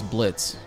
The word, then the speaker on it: Bltz: Stone monkey uh you pronounce my username as Blitz bltz sweet yeah they got